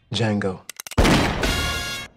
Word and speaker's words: Django: attention what's your name Django the D is silent